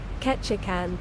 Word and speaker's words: Ketchikan: Presuming that Google knows how to pronounce it. Apparently it's this. Ketchikan.